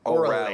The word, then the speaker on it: Orale: And the correct pronunciation of the restaurant is Orale. Orale, yes, yes.